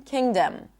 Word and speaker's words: kingdom: Um, also when we have other suffixes like king, kingdom, we do not pop the g.